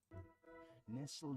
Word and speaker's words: nestled: Just like you don't say castl. You castle. You say castle. Yeah. You don't pronounce the tur there.